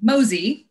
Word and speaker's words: MOSY: and then we have an acronym of m o y Mo symphony mosy is how we pronounce it so utilizing the Missouri